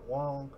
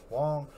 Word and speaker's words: Hoang: always his channel and anthony wong y'all see it right here that's how you spell it h-o-a-n-g you know what i'm saying anthony wong yo man my bad